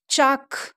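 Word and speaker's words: chalk: ಆ್ಯಂಡ್ ಈ ಶಬ್ದನಲ್ಲಿ ಎಲ್ ಈ ಅಕ್ಷರ ಏನದ್ರಿ silent ಐತ್ರಿ. ಎಲ್ದು ಉಚ್ಚಾರ ಆಗಂಗಿಲ್ಲ, ಇದ್ರ ಧ್ವನಿ ಏನದ್ರಿ ಸೈಲೆಂಟ್ ಐತ್ರಿ. ಚ ಅ ಕ್, ಚಾಕ್, ಚ ಅ ಕ್, ಚಾಕ್, ಸಿ ಎಚ್ ಎ ಎಲ್ ಕೆ, ಚಾಕ್.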